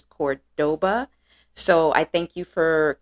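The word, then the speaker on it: Córdoba: my last video incorrectly instead of corboda it is Cordoba so I thank you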